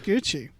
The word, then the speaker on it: Cucci: It's Gucci. It's pronounced Gucci. It's pronounced Gucci. You said Gucci. pronounced like Gucci, but it's got a C in front of it, and I understood. But it's pronounced that. like the word Gucci.